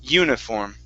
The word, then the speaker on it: uniform: is uniform uniform okay instead of uni it's you ni short i sound uniform uniform okay very good